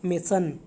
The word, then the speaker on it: mason: राजमिस्त्री नहीं आपने बोलना, आपने बोलना है मेसन। ओके, वेसन नहीं है, मेसन, सो प्रोनाउंस ठीक से करना, MASON, मेसन।